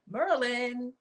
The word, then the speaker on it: Maryland: Yeah, that says Merlin. See, I learned how to say it in a different way. See, Merlin. M-U-R-A-L. Shouts to Baltimore for coming up with new words. Merlin. Maryland.